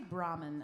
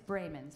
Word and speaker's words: Braymond: I say Brahman and that's not right. It's Braymond.